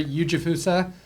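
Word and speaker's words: Ujifusa: Eugjifussa. My last name is spelled UJI Fusa.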